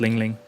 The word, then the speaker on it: Lin Lin: Oh yeah, pronounced Ling Ling. Ling Ling as in like a bell, or Ling Ling.